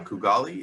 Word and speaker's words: Kugali: a couple things from i think it's pronounced uh kugali is that how you say it yeah yeah yeah so i checked out